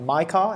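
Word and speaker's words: MiCAR: Uh, they recently managed to get Zero Hash Europe, authorized under, I think I'm pronouncing this right, my car.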